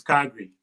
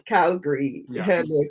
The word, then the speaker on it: Calgary: calgary you know johnny just come but the pronunciation is calgary it's calgary calgary and also um so i'm sharing guys